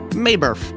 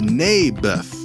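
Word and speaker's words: Naboth: that's what i said mayberff i think you're saying it wrong his name was neybeth ah bless you never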